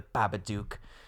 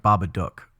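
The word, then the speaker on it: Babadook: I say like baba duke. Yeah cuz I think when he's reading it like it kind of rhymes with look.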